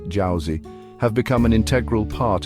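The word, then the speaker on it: 饺子: history dating back over 1,800 years dumplings jouy pronounced JY have become an integral part of Chinese New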